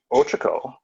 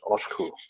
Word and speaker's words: Ochiko: And it's funny because Ochiko is not actually how you pronounce her name. I've got it spelled there, O-C-H-I-K-O. How you actually pronounce it is Oshku, right?